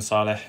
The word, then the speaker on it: Saleh: it is but it wasn't before it's actually pronounced Saleh and I actually chose the name Saleh because I wanted her myself and my kids